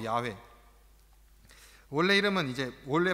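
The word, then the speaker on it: Yahweh: 하나님이 바로 여호와 들어보셨을 겁니다 여호와 야외 저 야외 원래 이름은 이제 원래 발음은 야외로 그렇게 됩니다 이름이 갖는 의미는 여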